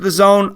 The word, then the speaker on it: DAZN: it spelled the AZN pronounced they claim it's pronounced the zone I'm gonna go with it I hope this